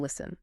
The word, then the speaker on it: listen: Wait, why did the T drop out of listen? Well, listen comes from the Middle English word listen. Middle English speakers naturally dropped the T because it was physically difficult to pronounce when stuck directly between an S and an N.